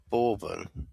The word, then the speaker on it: Bourbon: Bourbon, is it? Bourbon, like the Bourbon biscuits. Yeah, like Bourbon, like biscuits.